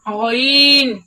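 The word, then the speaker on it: غين: গাইন অনেকে বলে গন গন বললে বাংলা গর মত উচ্চারণ হয়ে গেল বাংলা গর মত উচ্চারণ হবে না বলতো সুন্দর লামিয়া বল মাহবুবা বল গাইন গাইন গাইন হ্যাঁ হাবিবা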